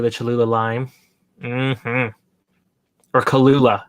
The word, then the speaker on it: Cholula: Or Cholula. How do you say that? Cholula.